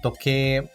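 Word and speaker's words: とけい: Em seguida temos toke. Toke. Toke é relógio, prestando atenção ao prolongamento do som do e na sílaba ke, mas que é escrito com hiragana i. Logo, toke.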